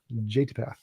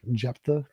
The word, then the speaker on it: Jephthah: Jatipath. I don't know. Jephthah is how you pronounce it.